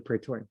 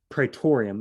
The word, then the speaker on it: Praetorium: Praetorium is the way I've heard it always pronounced.